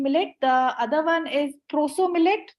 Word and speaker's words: proso: The other one is proso millet, the one that I try to rhyme with sarso.